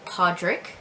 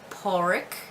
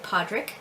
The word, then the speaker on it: Pádraig: My son's middle name is Pádraig, and that can also be pronounced Pádraig, but we do say Pádraig.